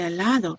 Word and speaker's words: helado: our last Spanish lesson think about the silent letter at the beginning why bien it's an H a la da h